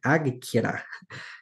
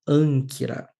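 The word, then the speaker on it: ἄγκυρα: Então, em vez de ser Akira, não dá nem para pronunciar direito, né? Agkira, será pronunciado como Ankira.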